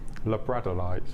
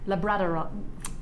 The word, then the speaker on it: labradorite: I think we say Labradorite because of Labradors, but we're probably wrong. It's probably Labradorite.